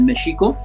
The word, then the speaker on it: México: Imagínate qué lenguajes tan poderosos tenemos el mexico, porque así se debe pronunciar México, que estamos comiéndonos los mocos hablando español nada más.